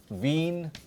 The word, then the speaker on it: Wien: So, when we learn this in German, or you can say we are learning about Wien und der Wein. Wien und Wein.